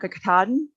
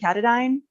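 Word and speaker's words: Katahdin: how to pronounce mount kakitadin i was pronouncing it like the water filter company katadyn and basically knew nothing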